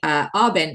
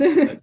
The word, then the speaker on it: Aubin: Aubin is how I typically say it, though, Okay, I'm but thinking in it's French French. like Yes. Aubin, but I got to anglicize it.